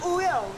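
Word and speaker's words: Wooyoung: I'm Wuyoung.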